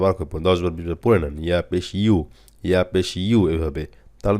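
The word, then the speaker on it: يُ: হা পেশ হু খ পেশ খু আইন পেশ উমজা পেশ উমজা পেশ উলিফ হামজা হয়ে যাবে আগেই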